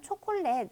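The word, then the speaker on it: chocolate: 그리고 이제 우리가 사용하는 초콜렛 시라는 어원은 의 어원을 잠깐 보자면 이제 그 스페인어로 는 초 콜라 때 라고 하는데요 예 영어랑 4 영어 초 커리 타고 내 스펠링이 동일하 줘 예 어 아 스티카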